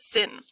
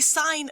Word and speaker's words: sine: intelligent at all you should not call it sin you should call it the sine of theta even though when we write it we don't write the e now notice i put